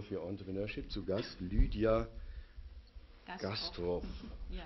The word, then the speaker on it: Gastroph: nochmal für unsere Zuschauer, die vielleicht das nicht mitgehört haben, Labor für Entrepreneurship zu Gast, Lydia Gastroff, ja. Spricht man so aus, ja, Gastroff, ja.